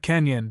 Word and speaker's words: Canyon: To the Grand Canyon, dash with the accent on the yan, added Stacy.